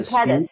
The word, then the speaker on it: Sepetys: Septia? Is Oh, that how you say it? Ruta Sepetys and Sepetys, that's it.